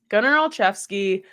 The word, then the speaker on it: Gunnar Olszewski: But Gunnar Olszewski. That's how you say it, right? I hope I'm saying it right. Yes. Yep. Gunnar Olszewski.